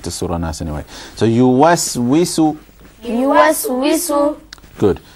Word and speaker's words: يوسوس: So yuwaswisu. يوسوس. Good. So about the wa as well, you understand from this next example that the wa is also to be pronounced with an empty mouth.